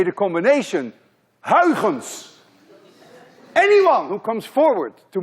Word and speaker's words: Huygens: a genius idea which we now know as Oregon's principle at least you call it Oregon's principle